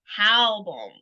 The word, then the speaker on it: Halbohm: This is Halbohm. Did I say it right? You got it, Tanya.